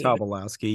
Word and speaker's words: Tobolowsky: Tobolowsky? Tobolowsky. Tobolowsky, yeah.